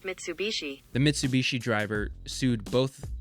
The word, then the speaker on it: Mitsubishi: okay google how do you say mitsubishi that's pronounced mitsubishi the mitsubishi driver sued both the mercedes driver